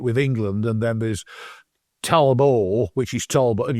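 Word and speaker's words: Talbot: there's a period there's Tolbert which people associate with England and then there's Talbo which is Tolbert and you don't pronounce the T which is a French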